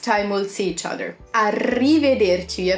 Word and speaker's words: arrivederci: we'll see each other arrivederci of to roll the R that's a weird sound in Italian arrivederci and then to